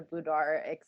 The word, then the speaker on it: boudoir: Just real quick, for anybody that doesn't know, would you just mind explaining what a boudoir how do you say it again?